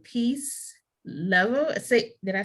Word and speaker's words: Lovell: Peace Lovell. Did I say it right? Susanna Peace Lovell. So it's like the word Lovell. That is so love pretty. with 2 L's at the end. Yeah. Lovell.